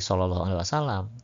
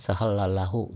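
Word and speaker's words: صلى الله عليه وسلم: Toh teks sallallahu alaihi wasallam yang latin itu kalau dibaca oleh orang yang tidak tahu hijaiyah kan macam-macam bacanya ya. Bukan enggak enggak pasti sallallahu alaihi wasallam. Mungkin ada yang bacanya sehallalahu gitu ya.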